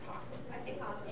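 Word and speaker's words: opossum: were called Apostles AP it's spelled aasum but people say it say just posum all right so I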